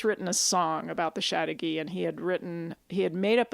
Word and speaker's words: Chateauguay: The first half of the word is the word chateau, which of course is French for castle. Oh. So chateau is, if you know how to spell that, to me that was easier. So CHATEAU, chateau. Oh. Chateau. And then the Guy part is GUAY, which should be like Paraguay.